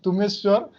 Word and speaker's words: Tumeshwar: You can pronounce Tumeshwar, and my nickname Swaraj.